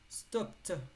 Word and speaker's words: stopped: the school bus stop stopped here the Ed is T stopped stopped in front of her